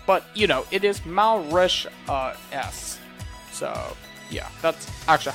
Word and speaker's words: Mauritius: I mean, it's kind of a little bit crazy to have to say that, but you know, it is Mauritius.